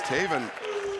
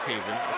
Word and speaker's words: Taven: It rhymes with Maven, who I know him, and Raven, who I don't like, but I know Raven.